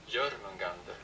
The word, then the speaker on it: Jörmungandr: Right, tell me how to pronounce it, iPad. Jörmungandr.